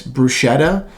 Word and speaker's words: bruschetta: me it just um there's no sense in mispronouncing it people say it's bruschetta it's technically it's it's bruschetta again it still